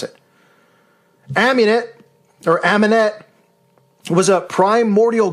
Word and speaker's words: Amunet: That's how you pronounce it. Amunet, or Amunet, was a primordial goddess in ancient Egypt religion.